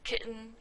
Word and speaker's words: kitten: Or sometimes people say kitten or button. Those are also glottal stops.